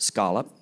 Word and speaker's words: scallop: On Nantucket, the word is pronounced scallop. It has been pronounced this way since 1659.